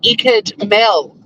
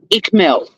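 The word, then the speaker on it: Ickmel: And, oh, my God, why can't anyone say Icked Mel? Like, why does everyone say Ick Mel? It's Icked Mel. Well, and if it's not, well, it is. But if it wasn't, why spell it that way? But, my God, if I hear one more Ick Mel.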